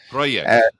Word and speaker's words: project: to begin next month project exactly so there's a j and that J sound in English is is not the same as in Spanish and so this comes